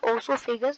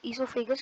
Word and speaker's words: esophagus: And esophagus, that is not osophagus, that is esophagus, O is silent.